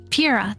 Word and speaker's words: Pyrrha: I really loved I can never remember how to pronounce her name. Priya, something like that. Pyrrha? Pyrrha, yes, Pyrrha.